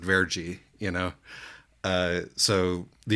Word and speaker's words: verde: the same reason that Verde is pronounced vergi you know uh so